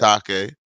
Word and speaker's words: Atake: Atake. What? Go ahead. I thought it was too, but everybody says a take, so it's a take.